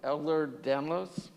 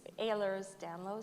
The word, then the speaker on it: Ehlers-Danlos: okay so you have elder danlos is that how it's pronounced uh it's ehlers-danlos syndrome okay like air work all right so i